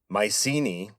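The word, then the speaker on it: Mycenae: Mucai would later be pronounced Mysini. M y ce n ae and that was the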